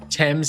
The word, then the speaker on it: Thames: Thames is how you say it. I'm going to take the British guy's word for it.